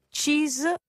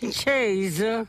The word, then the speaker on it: Chase: occasioni in compagnia della collega questo è difficile Cheese sui Wonders hai Allora scritto Cheese come formaggio No Appunto Lo sapevo c a s e Chaz Chase Chase Chase sui scritto come Come si pronuncia